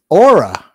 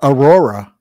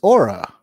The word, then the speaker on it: Aura: the princess's name wrong it's Aura but people are calling her Aurora but it's it's aura Aura not Aurora I don't know half